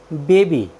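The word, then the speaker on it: baby: होता है बच्चा साथ यहां पर वाई वर्ड के बिल्कुल अंत में आया है और उससे पहले कंसोनेंट अर्थात व्यंजन ब आया है इसलिए हमने वाई का उच्चारण बड़ाई किया है हमारा नेक्स्ट वर्ड मीनिंग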